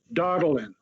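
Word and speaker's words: Daudelin: the record please this is the recording secretary darling that's spelled d-a-u-d-e-l-i-n thank you i got that so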